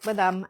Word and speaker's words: badam: like spelt like that, we in Gujarati and Hindi we pronounce it badam, and it means almond, and the color does look like a spring almond, like when it's in the, anyway.